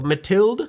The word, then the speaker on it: Mathilde: I wanna say Matilda, but it's not an A. So Mathilde, it's the XO orange